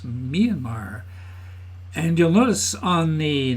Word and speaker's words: Myanmar: name of the country it's not Mayan Mar it's Myanmar and you'll notice on